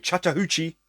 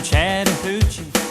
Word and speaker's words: Chattahoochee: jump in today with Chattahoochee sung by Alan Jackson hoochie I'm pretty sure that's what it's how it's said anyway not coochie anyway it's gonna be a